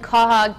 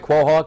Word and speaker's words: quahog: head into the kitchen with patrick new england quahog chowder right that's right no matter how you pronounce it right quahog quahog quahog this is chef alan judkins from